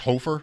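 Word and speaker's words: Hofer: This guy's name is pronounced hoofer.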